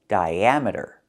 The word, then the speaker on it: diameter: Here, the I makes a long I sound, but the A makes a short A sound like black cats. Because we're moving the stress, we're moving the stress to the second syllable. Dia diameter and we link the two vowels the I and the A with the Y sound like in yellow and yesterday.